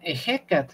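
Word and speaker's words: Ehecatl: este se escribe realmente lo escriben así nocat y pero lo pronuncian ecat no dicen ecat así pero realmente no había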